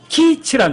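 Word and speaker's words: קיץ: 근데 희한한 게 이 여름이란 단어가 히브리 말로 키츠란 단어예요. 키츠. 근데 끝이란 단어가 조금 짧아요. 키츠. 여름 끝이에요. 여름 끝. 발음이 같아요. 다만 여름은 약간 길게 발음하고 끝은 짧게 발음해요.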